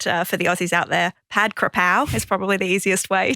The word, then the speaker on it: Pad Krapao: It's called Pad Krapao. It's spelled numerous different ways, but for the Aussies out there, Pad Krapao is probably the easiest way to remember and to say it.